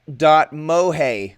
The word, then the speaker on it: .moe: Well, are the people going to decide that .mohe, which is spelled .moe, which launched on Tuesday, will they hit 200 million registrations as their press release predicted?